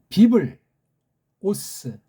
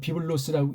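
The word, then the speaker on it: βίβλος: 비블, 오스, 비블하고 오스라고 읽어야 돼요. 비블로스라고 읽으면 이 구분이 안 된 소리예요.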